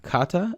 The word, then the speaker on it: kata: one of those light tongue flicks in the middle like regatta as in a boat race regatta say that out loud a few times and get comfortable with how it feels now change it to uh kata and use exactly the same tongue flick this sounds uh almost identical to the japanese word kata here are a few